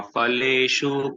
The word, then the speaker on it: फलेषु: Karmanyevadhikaraste ma phaleshu kadachana ma karma phalaheturbhur ma te sangotsva karmani. Radhe Radhe. This is actually, in correct pronunciation, it will be Phaleshu.